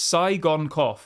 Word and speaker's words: Tsygankov: It's Tsygankov, apparently.